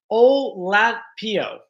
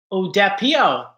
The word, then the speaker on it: Oladipo: Odepilo? No. Odapio. Odapio. Thank you, Tammy. Oladipo. Oladipo. Oladipo.